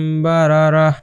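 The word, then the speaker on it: بَرَرَةٍ: আরেকটা উদাহরণ দেখি কিরামি বারারা এটার থামার চিহ্ন আছে যেহেতু এটা হা হয়ে যাবে জাস্ট আর বারারা তিন তিন হবে না হা এর মত হবে লাস্টে যদি আপনার এই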